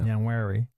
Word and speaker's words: Nwaneri: And hopefully for Ethan Nwaneri, how do you say his name? Nwaneri, yeah. Nwaneri.